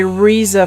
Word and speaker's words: RZA: I have finished my RZA figure well I say Reza because I'm talking in English because it's supposed to be pronounced RZA I've been